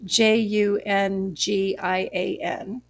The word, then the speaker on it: Jungian: This Jungian, Jungian, Okay. like Carl Jung, Okay.